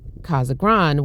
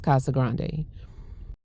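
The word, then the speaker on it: Casa Grande: I was saying it wrong and so I started saying it Kaza Grand, which I don't think that's the way you say it. I think it is Kasa Grande.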